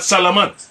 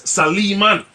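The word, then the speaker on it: سليمان: into the Arabic language his name is not salamand it's saliman saliman so the whole Salama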